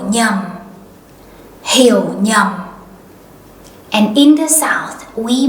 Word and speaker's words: nhầm: In the north, they might say hiểu nhầm.